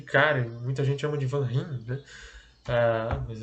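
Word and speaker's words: Van Rhijn: Aquele cara, muita gente chama de Van Rijn, né? Mas é Van Rijn na pronúncia certa.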